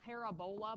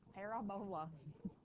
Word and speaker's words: parabola: it's called a parabola it spelled parabola but don't say it like that parabola parabola and then the path of